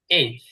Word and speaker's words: H: প্রথমটা হচ্ছে এইচ, আমরা এটাকে এইচ বলি, এটাও সঠিক। আবার আমেরিকানরা বা ব্রিটিশরা এটাকে হেইচ বলে, হেইচ মানে হ দিয়ে।